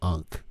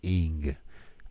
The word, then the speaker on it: Ankh: You don't pronounce it as Ankh. You pronounce it as Ing, I-N-G. You pronounce the Egyptian Ankh as Ing.